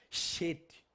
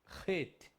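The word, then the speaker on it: חית: O Het, vai representar CH, porém você não vai pronunciar Shet. Het.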